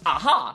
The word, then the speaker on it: Aja: And fun fact, AA's name is actually pronounced aha cuz in Spanish the J is pronounced as an H.